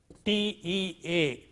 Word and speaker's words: tea: a word like this t.e a tee initial one is aspirated here T naught T but t see the difference tea tea tea tea similarly coffee when